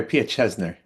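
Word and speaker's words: Piaseczner: Here's a great piece of text from the Pietnikar I really have a hard time pronouncing this rabbi's name. Josh, how'd I do? Pia Chesner. Try Pia Chesner.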